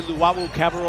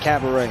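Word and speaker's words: Luwawu-Cabarrot: And that's why I don't say his name, because his name is not Cabaret, and that's not Cabernet. It's not Cabaret or Cabernet.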